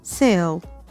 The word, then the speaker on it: sell: الكلمة وعكسها بقى، hot عكسها cold، good bad، hungry full of، buy sell معناها يبيع، س إيه الإي short إي فتنطقت إيه، sell معناها يبيع.